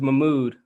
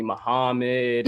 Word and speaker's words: Mahmoud: nah i mean so my real name is mahmoud and ever since i was in kindergarten like i just remember teachers always used to mispronounce my name call me muhammad all my mud and